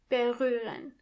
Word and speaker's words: berühren: First of all, the H is silent. Berühren.